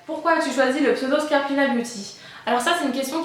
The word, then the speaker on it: Scarpina Beauty: Scarpina Beauty ça va très bien.